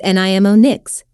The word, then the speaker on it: mnemonics: section we will discuss mnemonics pronounced as nimo nics methods or techniques of